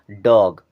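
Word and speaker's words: dog: डॉग क्या पढ़ेंगे डॉग अब देखिए यहां ओ आ रहा तो ओ का उच्चारण ओ की तरह नहीं किए बल्कि अ की तरह किए हैं बड़ा आ की मात्रा लगा के और थोड़ा सा चंद्र बिंदी लगा के तो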